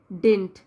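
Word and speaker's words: didn't: अगर हम खोल के बोलेंगे तो ये होगा डिड नॉट, तो और जब इसको कॉन्ट्रैक्टेड फॉर्म में हम कैसे पढ़ेंगे, डिडंट, ये वाला डी जो सेकंड डी होता है वो साइलेंट होता है।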